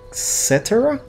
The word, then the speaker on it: Cetera: i fall by peter cetera et cetera is that a name like etc it's pronounced the same it's spelled the same with amy grant that's